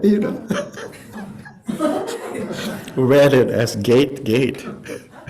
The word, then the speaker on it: gate: transcribing Sanskrit sounds uh all the vowels are pronounced so g a t e is gate not gate just to avoid the